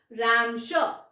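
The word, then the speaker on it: Ramsjö: Okay, the J silent. This is रैमशो. What is the pronunciation, रैमशो.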